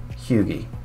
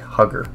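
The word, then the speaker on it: Huger: If you look out here, and there's this little town, that's pronounced Hugie. I know, it looks like Hugger, but it's Hugie.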